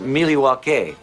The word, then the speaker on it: Milwaukee: Milwaukee. Actually, it's pronounced Milywake, which is Elgangquin for the good land.